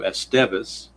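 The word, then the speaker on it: Estévez: go to this guy, Mr. Esteez, I guess, is how it's pronounced. Since they say the accent or the emphasis is on the second syllable, we'll do Esteeas.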